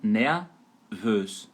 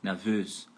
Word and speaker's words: nervös: Lembrando que a sílaba tônica, onde você vai dar ênfase, é por último, né? Então, nervös, nervös.